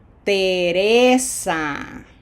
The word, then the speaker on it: Teresa: Teresa. Graphic accent. We got to smile for that I.